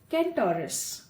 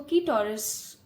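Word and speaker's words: Centaurus: और दूसरा पाइल है हमारे पास कैंटोरस, कैंटोरस। कुछ लोग इसको कीटोरस भी बोलते हैं बट इट्स कैंटोरस बिकॉज इसके अंदर कोई एन साइलेंट नहीं है।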